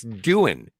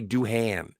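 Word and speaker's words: Doohan: It's Dan. Yeah. I hate it when people say Duhan.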